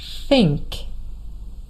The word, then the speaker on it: think: And maybe up until now, you were a little bit tempted to say s instead of the.